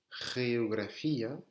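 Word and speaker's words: geografía: En espagnol, c'est pareil, ça peut se prononcer ge ou bien re, d'accord? Le G devant un E ou un I, c'est re, la géographie.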